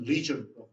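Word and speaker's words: leisure: 우리는 레저예요. 레저 여러분이 잘 아는. 영어로 했던 리저라고 발음하는데 여가 시간.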